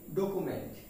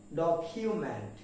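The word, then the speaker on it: document: এম ই এন টি আমরা এটাকে উচ্চারণ করি ডকুমেন্ট কি উচ্চারণ করি ডকুমেন্ট কিন্তু এর উচ্চারণ হবে ডকিউম্যান কি হবে ডক হিউম্যান প্লিজ আবার ডকিউমেন্ট তার মানে এর উচ্চারণ হচ্ছে ডকিউমেন্ট ডকুমেন্ট না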